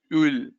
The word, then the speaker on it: huile: It's huile. The H is little silent.